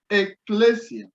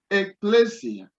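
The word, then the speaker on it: ἐκκλησία: sigma iota alpha so sometimes kappa depending on the pronunciation is being represented by c now we have it a pleasure ecclesia ecclesia now another word as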